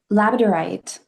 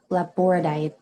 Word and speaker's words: labradorite: Now, labradorite is, or laboradite, lab, depending on who you are, how you say it, laboradite, labradorite, whichever the case.